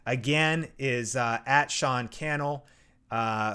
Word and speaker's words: Cannell: is uh at Sean Cannell uh a lot of people say canal whatever it's all good uh I'll show it